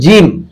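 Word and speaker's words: ج: সম্মানিত পাঠক, তারপর হচ্ছে জিম, জিহ্বার মধ্যখান তার বরাবর উপরের তালুর সঙ্গে লাগিয়ে উচ্চারণ করতে হয় জিম জিম।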